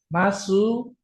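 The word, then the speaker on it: ます: Desu ini dibacanya des masu. Nah, kalau ini belum belajar nanti di bab 4 baru belajar. Ini dibacanya cuman mas ya.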